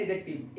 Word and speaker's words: adjective: ए डी जे आया वहां पर डी आपको साइलेंट कर देना है, डी को म्यूट करना है, डी डी का साउंड आपको नहीं बोलना है, तो एडजेक्टिव अपने आप हो जाएगा।